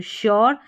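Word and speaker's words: sure: क्योर यू आर ई को your पढ़ा तो श्योर एस को यहां पर सौर स नहीं पढ़ते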